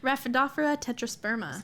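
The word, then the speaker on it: Rhaphidophora tetrasperma: listeners the full name raphaephra tetrosperma because i thought i was saying it right for like a thousand years and i was not how are you saying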